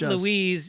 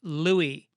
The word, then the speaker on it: Louis: say julia louise dreyfus it's not louise it's pronounced louie julia louis dreyfus what do you say